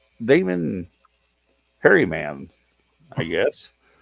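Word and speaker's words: Herriman: Damon Harryman, I guess. You tell me how to pronounce that. It was Harriman.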